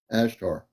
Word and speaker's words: Ashtar: Q&A night uh again as t a r not to get it mispronounced a like an alpha s like an Sun H like an Hotel T is in Tango A's in Alpha RS in Romeo ashar Miss's asleep I can't